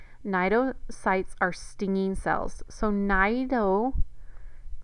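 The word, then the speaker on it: cnidocytes: nidian get their name Nido sites are stinging cells so naido the C is silent just like in narian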